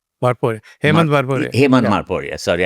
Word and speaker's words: Morparia: In Morparia, the cartoonist. Who? Morparia, or is it Marporia? Marporia.